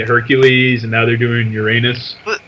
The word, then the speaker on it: Uranus: and now they're doing Uranus as they pronounce it uranos so they're not really